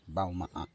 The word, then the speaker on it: Balmaha: It's pronounced Balmaha.